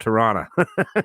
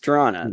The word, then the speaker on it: Toronto: No, it's called Toronto. Yeah, it's Toronto. There's no second T in that.